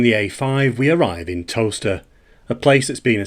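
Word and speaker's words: Towcester: In America, it's probably pronounced talcester. In Britain, it's pronounced toaster, like the kitchen appliance.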